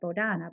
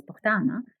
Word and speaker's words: Bohdanna: So a lot of people would say to me growing up, well, my name is Bohdanna, but the correct pronunciation is Bohdanna.